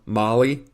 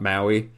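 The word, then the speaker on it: Mali: school in Utah but from Molly not Maui somebody mispronounced uh when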